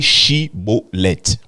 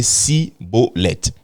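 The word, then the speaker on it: Shibboleth: Eux, au lieu de dire Shiboleth, ils disaient Siboleth.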